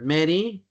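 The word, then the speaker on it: Mery: M E R Y. Like Mary. My dad misspel it like used to Maria but like Mary like the Virgin Mary but he spell it with an E.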